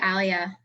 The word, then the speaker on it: Alia: Alia, am I saying it right? I usually pronounce it Alia.